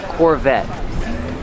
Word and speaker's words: Corvette: Corvette. The T is a stop T. The E is silent. Corvette. Corvette. Pronounces V with voice.